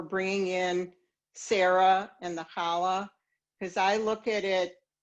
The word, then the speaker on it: challah: So in at least New York, some people can pronounce it challah bread. Instead of challah, they said chali. So more like holly.